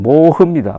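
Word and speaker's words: 漠河: 한편 중국 흑룡강성에 있는 한자로 서면은 막한데 막하 발음은 모흐입니다 모흐는 영하 53도까지 지금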